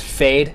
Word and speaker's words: Fejd: Got a band, I think I'm pronouncing it correctly, it's Fejd, F-E-J-D.